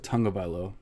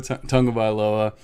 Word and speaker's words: Tagovailoa: gibson cd lamb jerry judy and tua tagovailoa tonga by low i always say it right and just now i didn't for whatever reason uh so two tongue of iloa we have uh all those players and they're